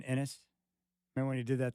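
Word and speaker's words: Enes: would correct you hey what' you think about Enis tonight Enis caner I had a strong you mean inis remember when he did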